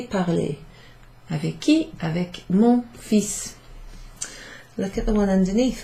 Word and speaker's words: fils: J'ai parlé avec mon fils. Fils. So that's pronounced fils, even though it's written F-I-L-S.